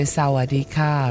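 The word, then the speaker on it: สวัสดีค่ะ: In Thailand, when you greet people, you always say Sawadee Ka, right?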